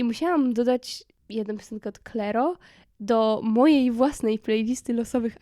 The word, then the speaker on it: Clairo: gracy chapel i uwaga moja nowa miłość Czyli clero pisze się cirro i to jest taka Indie popowa